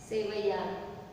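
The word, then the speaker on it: sevaiyan: Okay, सेवैया होती है, एन आता है लास्ट में जो साइलेंट होता है, सेवैया।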